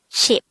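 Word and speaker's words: 십: The Sino-Korean version of number 10 is ship. And we should take note that numbers 1 to 10 is just composed of one syllable.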